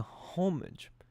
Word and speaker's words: homage: No doubt you have seen the homage the homage.